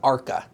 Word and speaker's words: ARCA: And by the way, Jay, I have to correct you. It's ARCA. ARCA. That's how you pronounce that.